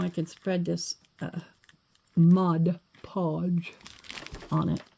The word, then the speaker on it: Mod Podge: can spread this uh Mod Podge on it try to say it right from now on but I'm sure I'll forget to say Modge Podge it's just been a